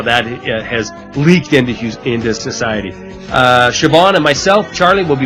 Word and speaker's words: Siobhan: When you add that to the spelling of your first name, it's pronounced Siobhan, which is a lovely name, by the way.